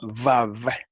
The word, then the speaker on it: Vav: Más específicamente el aspecto de cómo se pronuncia la letra hebrea Waw, que en hebreo moderno se llama Vav, pero en hebreo antiguo se llamaba Waw. Y en el hebreo yemenita de los judíos yemenitas todavía se llama wow y se pronuncia u. Entonces, como ha surgido cierto